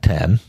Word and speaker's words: Saw X: X or is that 10 and how do you pronounce that 10 10 it's the 10th one yeah I didn't know